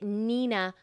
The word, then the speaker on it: Neenah: that most people recommend is the Neenah and that's spelled n-e-e-n-a-h the Nina paper and you can get it at our